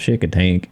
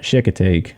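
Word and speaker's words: Chincoteague: in the comments below this is off Shikha teak island or if you're from down south it's called shakey tank chick tank in this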